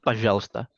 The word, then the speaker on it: пожалуйста: Kemudian ini пожалуйста sama juga ya, agak kayak Здравствуйте tadi bacanya пожалуйста. Meskipun tulisannya пожалуйста, tapi bacanya tetap пожалуйста.